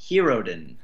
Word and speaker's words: Heerodin: having me Twinkle um my name is herodin um I came up with the name herodin